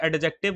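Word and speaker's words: adjective: हैं ठीक है ना डी इस में साइलेंट रहता है बात मेरी समझ में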